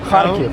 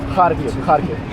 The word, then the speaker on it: Kharkiv: go to Lviv, I'm just saying like go to Spell it for me. like couple lessons. Kharkiv. Kharkiv.